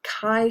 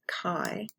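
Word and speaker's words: chi: I'm going to talk about but it's called Kai Square you pronounce it Kai like this um and uh it's just a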